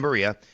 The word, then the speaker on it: Berea: I said it wrong a few times and people yesterday people let me know. Not Berea, it's Berea. So, it's in Berea and it's a nice training complex.